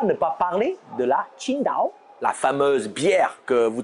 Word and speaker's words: Qingdao: chinois je suis d'accord vu l'écriture tsi ngt à eau vous ne pouvez pas mieux prononcé que sida ont en fait qui se prononce plutôt comme thil dans king thing he signifie vert bleu